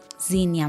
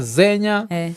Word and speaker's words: Zinia: Zinia. Zinia. Yes. Okay, kwa kila mtu niambia kuna watu wamesema Zenya. Alafu sasa hii Zenya unajua na kwani ni Kenya ama ni nini? So ni Zinia.